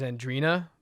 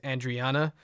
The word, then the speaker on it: Andrina: My wife, her name is Andrina, but the way it's spelled, it looks like it says Andriana. So every time, it's like every fucking time she has to say Andrina, and they're like, Andriana?